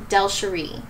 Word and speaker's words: DelSheree: it's a tricky one my first name is actually pronounced delsheree now the second question